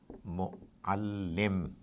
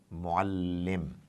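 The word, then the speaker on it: مُعَلِّم: So this particular word is pronounced by the Arabs like this: mu'allim, mu'allim.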